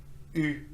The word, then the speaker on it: eu: The past participle of avoir is eu. E-U, pronounced as U, just like the letter U.